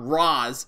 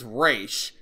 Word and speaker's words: Ra's: wrong the movie is it's not Ra's it's race which is how the creators look character pronounced it so Rey straining Batman